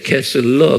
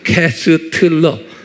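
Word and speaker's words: Koestler: 아 캐스 이제 제가 여기 t가 있는데 T를 내가 말을 안 해줬어요. 캐슬러 그래요. 그 발음을 캐슬러 그렇지만서 여기에 숨겨져 있어요. 캐스틀러 이렇게 발음하어 캐스러. 근데 이제 발음은 캐슬러 그런 거예요.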